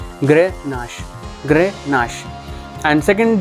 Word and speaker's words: Grenache: चीज एक ही है शो गिरनार आप कैसे प्रोनाउंस करते हैं इट्स ग्रह नस ग्रे नस ग्रे नस और सेकंड